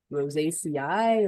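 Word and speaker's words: Rosaceae: Rose ACI or how would you guys pronounce that for the rose family or okay what do you say cat cat and I always differently than each other I say Rose AC okay yeah okay yeah rosacea I you wouldn't do an eye the the e at the end of Latin is usually an e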